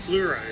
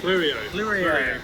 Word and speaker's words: Fleurien: Bogans Guide to Wine, Fleurien, how do you pronounce that? Fleurien. Fleurien.